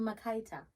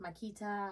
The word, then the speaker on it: Makaita: Okay, well, I face some things like that because I'm Makaita. Right. And I get Makita, I get Makata, it's, all the time.